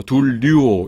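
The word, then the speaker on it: δουλεύω: 그래서 , 둘류오 . 소리 에 주의 하세요 . " 유 " 라고 하면 , 그걸 이중 모음 이라 고 해 요 .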